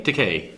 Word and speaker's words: Takei: gay but no yes it rhymes with okay yeah a lot of people wanna say Takei it stochastic a yes okay Takei okay so you have